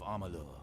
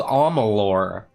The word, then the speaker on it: Amalur: strong soon all of amalu will see red apparently it's called amolor i've been pronouncing this wrong this entire let's play well